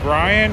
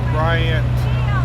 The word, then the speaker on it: Bryant: It has a T in it. Is it Right. Is it Brian or Bryant? Bryant. Bryant with a T. All right. So I have been saying it right.